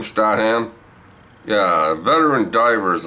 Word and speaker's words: Statham: Jason Statham? Is that how you say his name? Statham?